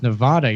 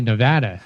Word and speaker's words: Nevada: Now, Chuck, you flew past something there that I'll absolutely scold you for because you pronounced Nevada as Nevada. You're supposed to say Nevada.